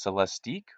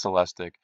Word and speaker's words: Celestiq: you go online that says it could be pronounced celestique or celestic I'm not positive but I think it's celestic anyway MSRP on this